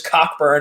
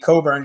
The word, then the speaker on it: Cockburn: also maybe it's because he changed the pronunciation of his name i'm pretty sure he was cockburned until this year and now he's going by just kofi coburn go ahead hit it